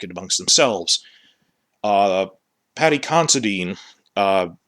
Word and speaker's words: Considine: amongst themselves uh patty considine uh i realize it rhymes with constantine constantine he people thought